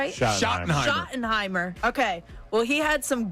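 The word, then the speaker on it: Schottenheimer: But what we do know is that the new head coach, Brian, uh, is it Shoenheimimer? Am I saying it right? Shottenheimimer.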